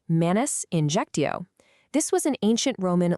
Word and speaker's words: manus injectio: First up is manus injectio, pronounced manus injectio.